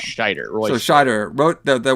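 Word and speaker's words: Scheider: It's like it's like Schneider but with no end. So it's Schneider.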